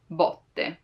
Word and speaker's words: botte: Now, as I said it right now, like botte, with an open sound, botte, like there's a lot of space in between my lingua, the tongue, and the rest of the mouth, botte.